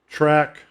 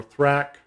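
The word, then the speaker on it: THRAK: was tom christopher so track or thrack whichever you want however you want to pronounce it that's up to you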